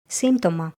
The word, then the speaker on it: σύμπτωμα: The letter p is often silent. empty symptotoma.